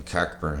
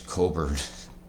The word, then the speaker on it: Cockburn: Oh, I'm sorry, the cock is silent in cockburn. It's Coburn.